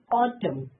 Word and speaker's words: autumn: Autumn N silent.